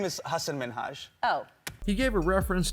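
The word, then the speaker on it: Hasan Minhaj: about his name he said that people always mispronounce his name even though it's an easy one he said people call him haseem minahaja and other weird versions of hassan minaj hasan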